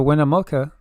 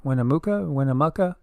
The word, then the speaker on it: Winnemucca: Sarah Winnemucca. Winnemucca is, or maybe I'm saying it wrong, Winnemucca.